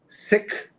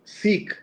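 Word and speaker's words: Sikh: So Jonath so the discussion has been uh many uh folks who follow the religion have asked us to say sik instead of seek and uh here's what Jonathan says.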